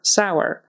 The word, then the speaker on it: sour: poor and sour sour put these two here because they are spelled both of them with an O Ur on the end but as you can hear we pronounce them differently poor is pronounced as if it was just an o r and sour is pronounced as if it were a o w r kind of thing so